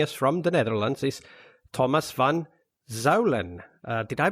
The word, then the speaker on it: Thomas van Zuijlen: this week joining us from the netherlands is thomas van zalen uh did i pronounce your name correct 100 all right well